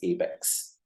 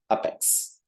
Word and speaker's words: APEX: you out is with how do you pronounce Apex okay the moment you see a p e x we tend to say Apex okay Apex body or something like that so we need to come out of that and pronounce it a little bit differently as Apex as you see here the phonetical pronunciation for that so maybe towards end